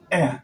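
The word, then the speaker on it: heir: When you're pronouncing honest, you say honest. Honor, honor, air, air.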